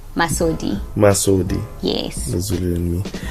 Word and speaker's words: Masodi: Let's go to Masodi, right? That's how you pronounce it, right? Masodi.